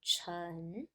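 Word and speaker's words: 城: This part, chen, to provide the sound of this whole character. So this final character means castle or city, okay? And the pronunciation is based on this one, is chen, okay?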